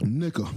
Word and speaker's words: Nika: It's how your family says it, and it's how you say it. Nika. Her name is Nika.